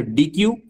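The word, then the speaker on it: deque: the answer is dec we call it as deck i think you can also there is no wrong in uh pronouncing that as a dq because it is called as double ended queue and this dq class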